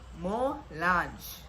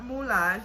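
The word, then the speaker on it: Molanje: Mo-Lanje with a J, with a little J. Mo-Lanje. That's it. Not Moulage, not Mo-Lanje. There is no accent. Not Mulan.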